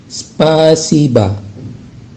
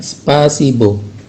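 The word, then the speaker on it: спасибо: Dalam tulisan spasiba, dalam tulisan bahasa Rusianya spasiba itu terdapat huruf O di akhir kata ya, di akhir kata. Nah, huruf O tersebut tidak diucapkan O, tapi diucapkan A. Maka menjadi spasiba ya, bukan spasibo ya, tapi spasiba.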